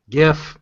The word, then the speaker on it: GIF: GIF or GIF? GIF. Hard Yeah. G. Hard G.